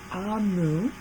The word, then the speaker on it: Amu: Amu is pronounced Amu, is the Igbo term for queen in another language.